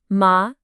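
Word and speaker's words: 妈: The syllable is ma, simple enough, but if you say it with a high, flat tone, ma, it means mother. If you say it with a tone that dips down and then comes back up, ma, it means horse.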